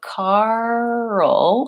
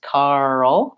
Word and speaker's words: Karl: and early are different so Karl has a dark L at the end so it's almost like two syllables just like girl her